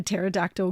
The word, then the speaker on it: pterodactyl: can't you hear a pterodactyl go to the bathroom because the pee is silent you